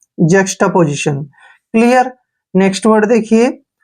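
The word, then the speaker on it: juxtaposition: देखिए जे यू का उच्चारण जो है हम ज करते हैं, ज, और एक्स को हम क और श के रूप में पढ़ते हैं। टी ए को हम टा पढ़ेंगे, टा, ऐसे जक्स्टा, क्या हो गया जक्स्टा। पी ओ का उच्चारण पौ करेंगे, ऐसे पौ, और एस आई को हम जय पढ़ते हैं अक्सर, ठीक है, और टी आई ओ एन को शन पढ़ते हैं। पोजीशन, देखिए जक्स्टा पोजीशन, जक्स्टा पोजीशन होता है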